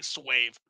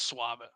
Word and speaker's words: suave: Like people still laugh at me for saying like what I say swave, and it's suave.